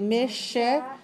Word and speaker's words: Michigan: Notice the CH in this word sounds like SH, like my name Marcia. Okay, Michigan.